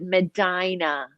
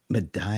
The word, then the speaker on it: Medina: Yes, bright and sunny tropical, although we call it Medina. Medina. That is just one of the many cities in the United States that are pronounced differently than the original.